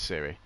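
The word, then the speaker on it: Ciri: not Cersei, In The Siri, Witcher. Siri, but spelled with a C.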